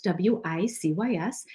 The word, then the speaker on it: WiCyS: We often go by our acronym WiCyS, W-I-C-Y-S, and we pronounce it WiCyS like we sisters because that's exactly what we are.